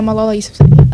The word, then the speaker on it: Malala Yousafzai: Is that how you pronounce it? Yeah, Malala Yousafzai.